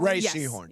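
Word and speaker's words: Rhea Seehorn: Is it pronounced Ray Seahhorn? Ray Seahhorn.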